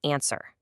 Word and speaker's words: answer: The word answer. The letter W here is completely 100% silent. It's answer. Now, sure, it's totally fine to pronounce the W in normal words like word